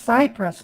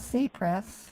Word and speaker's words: Cypress: today okay I pronounced it's pronounced Cypress not cess I I don't understand why you're saying cess I'm sorry you're pronouncing it wrong it's Cypress not cpress right it's cpress credit